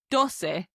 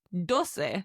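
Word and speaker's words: doce: Now number 12 is dose. D O C E dose. It's like dos with a little se on the end.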